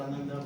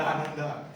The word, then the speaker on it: Ananda: So it really took me a big challenge whenever I explain my name, pronunciation, Anand or Ananda.